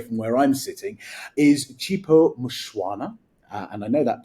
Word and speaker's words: Chipo Mushwana: Um, not too far away from where I'm sitting, is Chipo Mushuana. Uh, and I know that pronunciation is correct because I asked her before we started recording.